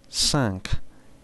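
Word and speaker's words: cinq: number 5 number 5 sank you do not pronounce that final consonant if the following word starts with a consonant excepting dates the number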